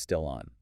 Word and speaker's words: still on: The force points out that the isle sound at the end of still, it doesn't stop. It connects directly to the vowel sound, the O sound at the beginning of on. So it becomes still on. Still on. Yeah. You can almost hear it as one word there that a slob just carries right over.